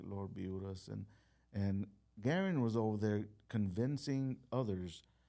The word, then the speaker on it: Garen: Well, Garen, did I say it right?